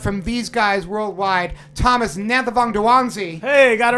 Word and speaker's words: Nanthavongdouangsy: to my left from these guys worldwide Thomas Anantha Vonda juanzi hey got it right I got it right